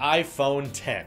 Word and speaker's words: iPhone X: into the main attraction they're calling it the iPhone ten and the iPhone 10 is spelt with a Roman numeral X so we have